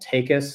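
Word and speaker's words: Taekus: Uh one the the first one that comes to mind is called Take Us. is spelled T AE K U S.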